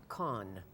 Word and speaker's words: Khan: really, in his day, Khan. Yeah. Abdul. Yeah, by the way, Ghaffar. Last name is spelled K-H-A-N, so I don't want anyone thinking Khan, like as in con artist.